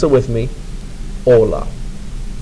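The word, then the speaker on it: hola: the first word is Ola pronounce it with me Ola notice that the H is silent that word means hello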